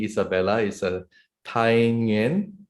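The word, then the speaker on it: Thái Nguyên: Is if I pronounce it correctly, Isabella is a Thai Nguyen. Thai Nguyen.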